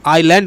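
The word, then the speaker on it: island: আই এস এল এ এন ডি আইল্যান্ড উচ্চারণ এস কিন্তু উচ্চারণ হয় না। আইল্যান্ড উচ্চারণ হয়।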